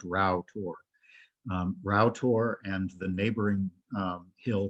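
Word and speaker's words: Rough Tor: And what we're looking at here is, it looks like this is pronounced rough, but it's not. It's actually pronounced Rowtor.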